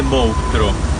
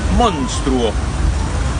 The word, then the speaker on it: monstruo: Fíjate, no dice monstruo, dice monstruo. Da un poco de trabajo, tenés que decir monstruo para no pasar vergüenza.